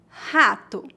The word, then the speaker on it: rato: No começo de palavras, o R é pronunciado como H, mais ou menos como a letra H no inglês. Veja alguns exemplos. Rato, rio, rua.